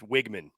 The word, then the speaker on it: Weigman: They gave me hell too, because I said Wegman. So how do we pronounce it? I used to say Connor Weigman, but they said it's Wigman. So I'm going to say Wigman from now on.